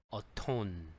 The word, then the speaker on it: atone: 한번 살펴보겠습니다 A O 발음은 두 번째 음절에 강세가 있고요 aone 어톤 뭐 톤 있잖아요 톤 톤이 어떻다 우리 톤이 높다 낫다 할 때 그런 것처럼 어톤 하면은 for 어쩌고저쩌고 해서